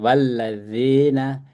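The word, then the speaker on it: والذين: Saya bacanya tadi bukan lazi, zi. zi. Keluar dikit. Dan la-nya tuh nggak usah ditekan. Walladzina ja ini lagi mat tabi'i 2 jahadu ya.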